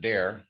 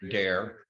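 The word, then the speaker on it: Doerr: We pronounce it Dare officially, even though it's D-O-E-R-R, Dare, like you dare someone to do something.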